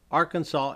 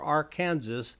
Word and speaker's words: Arkansas: strictly prohibitive to announce Arkansas incorrectly per the state code the only acceptable pronunciation in three syllables with a silent s and a in each syllable with the Italian sound and the accent on